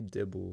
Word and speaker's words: Dibble: It's actually It's pronounced Like Dibble. Bible. Yeah, it's Bible. like Bible, but with a D. It's like the Holy Dibble.